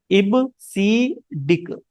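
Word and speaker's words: EBCDIC: इबीडिक इसको बहुत लोग कई बार गलत प्रोनाउंसिएशन करते हैं। इसका सही प्रोनाउंसिएशन क्या है? इब सी डिक इबसिक stand for इट सी डिक stand for ये होता है हमारा एक्सटेंडेड।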